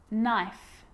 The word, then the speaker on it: knife: A K is not pronounced when it comes before an N, like knife, no, knee, knock, not, knowledge.